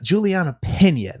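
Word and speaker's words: Julianna Peña: fighting as well versus julie uh julian uh juliana pena that's how you say her name but yeah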